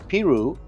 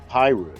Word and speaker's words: Piru: Originally pronounced pirou and later changed to pyu.